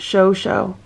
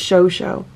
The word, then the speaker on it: Chocho: here is my chocho oh it's pronounced show show okay it's show show laying in his little